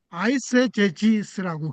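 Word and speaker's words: eisegesis: 그 성경을 연구하는 방법에는어요 엑세제지스라고 발음하는요 방법과 그다음에 두 번째 방법은 요거예요. 아이제지스라고 그립니다.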